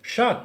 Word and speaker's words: Sjaak: age stout with madagascar vanilla and it says shaq goes around the brewery giving thumbs up to